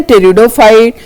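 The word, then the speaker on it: Pteridophyte: ब्रायोफाइट and then टेरिडोफाइट। Then टेरिडोफाइट में P silent होता है। Alright टेरिडोफाइट with P silent पढ़ते टेरिडोफाइट है पी को साइलेंट करके।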